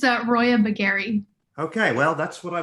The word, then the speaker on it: Roya Baghen: i don't do a faux pas it's a roya bagari okay well that's what i was gonna say